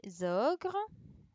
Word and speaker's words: ogres: Ensuite, des ogres. Donc là, il y avait la liaison entre ici et là. Donc là, il fallait faire attention à la liaison.